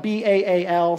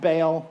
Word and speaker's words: Baal: It's spelled B-A-A-L, sometimes pronounced Baal or Baal.